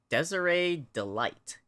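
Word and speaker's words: Desirée DeLite: Desiree delight. Like dessert delight. Like, is she just dessert? Hey, it's you guys. Oh, it's Detective Gumshu. Yes, you're saying it right. Okay, so Desiree Delight. Desiree delight.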